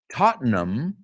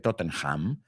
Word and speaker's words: Tottenham: Tottenham, no se dice Tottenham, Tottenham Hotspurs.